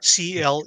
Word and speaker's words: Cleatus: His name is Cletus. Cleatus. It's spelled like a Right. football cleat. Yeah. Like a Not clean. not like Cletus the Slackjawed Yokel.